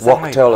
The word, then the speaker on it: Wachtel: Wachtel, it's pronounced, I always pronounce it wrong.